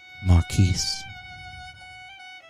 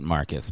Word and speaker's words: Marquise: Forever yours, Marquise. All right. Welcome back in. I think he pronounces it Marcus, but too late.